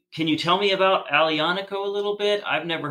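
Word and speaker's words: Aglianico: to say it is it is it that alianico is that how you say it yeah yeah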